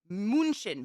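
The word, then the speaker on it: München: I've never thought about that Munchen Munich it's pronounced moonshin munchin thank you moonshin is it North or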